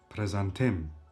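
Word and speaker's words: prezantim: If you want to introduce yourself, introduction, presentation is called presantim. Presentim, it's a masculine noun and the last syllable is stressed. Presantim.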